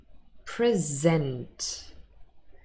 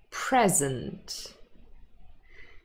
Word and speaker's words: present: So we have verbs, those are stressed on the second syllable, and then nouns, and they are stressed on the first syllable.